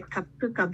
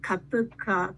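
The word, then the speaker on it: cupuaçu: Kupaku butter. This is a difficult pronunciation. Some people say kapuka butter, kapucha butter, but we call kapuka butter.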